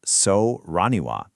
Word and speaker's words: Soraniwa: It's called Serania, and we're about to see what makes it tick. So, the platform we're digging into is called Soriniwa, and that's pronounced so raniwa.